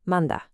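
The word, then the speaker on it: mandag: I dag ade manda. Pay close attention to how that last word sounds. Manda.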